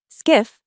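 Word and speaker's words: SCIF: Skiff, pronounced skiff, stands for sensitive compartmented information facility.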